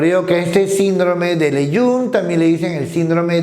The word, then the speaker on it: Lejeune: Por ejemplo, el síndrome de Lejeune con J, se pronuncia Lejeune, apellido de un genetista francés, también llamado monosomía, el par 5.